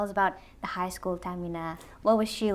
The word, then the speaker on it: Tahmina: Tell us about the high school Tamina. What was she like growing up? Uh high school Tamina or Tahina, which is the right way of saying my name.